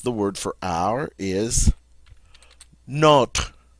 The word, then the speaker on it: nos: word for our is not not all right for the plural it's going to be no NOS notice we don't pronounce the S no not and no